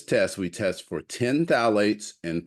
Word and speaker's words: phthalates: we did to detect phthalates, and the P is silent if you're trying to pronounce it.